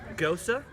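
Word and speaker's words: Gose: the key lime pie go sir for those who don't how to pronounce it it's G OSE it's nice its light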